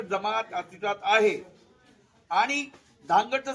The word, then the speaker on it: धानगड: जमात अस्तित्वात आहे आणि धानगडचं स्पेलिंग होतं डी एच एन G eddy त्यांनी त्याचा शोध लावला की त्याचा उच्चार आहे धनगड तसं नाही आणि धनगड त्याचा उच्चार नसतानी धानगड असा उच्चार आहे धानगड ही जमात अस्तित्वात